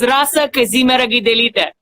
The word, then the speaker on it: Rasa Gaidelyte: My full name is Rasa Gaidelyte. So it's it's a little Spanish way, you know, like I like to say it like that with the power.